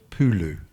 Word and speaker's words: pulu: it's got here it's based on the English pronunciation of the word Pulu which is p-u-l-u which comes from the balti